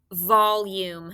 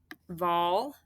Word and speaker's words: volume: volume say it volume notice it has two syllables so i'm going to get my syllable frames out here vol how do i spell vol do you remember v good all be careful that's like all live vol it's not a-l-l it's all oh good